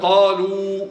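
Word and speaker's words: قالوا: Comme par exemple, qalou, un alif à la fin, on ne prononce pas.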